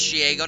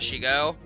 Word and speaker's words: Shego: And she needs to send it to cuz pronounces as Shgo, not Shiggo.